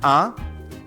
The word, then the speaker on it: un: যেমন ইউএন এর উচ্চারণ হবে আ, ইউএনই এর উচ্চারণ হবে উন, আ উন, আ উন।